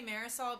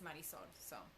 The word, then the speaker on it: Marisol: Marisol. Well, that's the way you're supposed to pronounce it. I mean, most people say Marisol because, you know, they speak English, but the right way is Marisol.